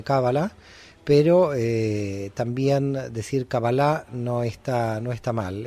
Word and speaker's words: cabalá: pero eh También decir cabalá no está no está mal en hebreo en general se dice cabala con ese acento final en la a pero no